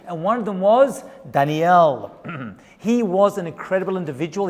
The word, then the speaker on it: Daniel: We're on the next part of our Decoding Daniel. And that's right pronunciation, by the way. It's not Daniel or Daniel. It's Daniel, actually, is the correct pronunciation, as I learned by going through this book.